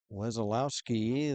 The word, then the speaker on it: Wesolowsky: Wazlowski, the goaltender for Ohio State, it's spelled Wesolowsky.